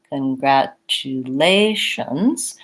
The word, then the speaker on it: congratulations: to be going faster so for congratulations my stress is on the a of lations and so I'm going to go quickly congratulations on the other syllables things to watch out